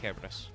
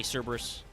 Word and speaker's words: Kerberos: Oh, so actually, yeah, the Japanese Romanji is written Kerberos, so it should actually be Kerberos. I know a lot of people say Cerberus. They are not actually interchangeable. It should be the hard C. But if you want to say Cerberus, I'm not going to fight you.